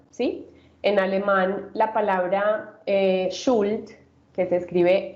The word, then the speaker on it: Schuld: En alemán la palabra Schuld, que se escribe S-C-H-U-L-D, Schuld, eh, que se utiliza para hablar de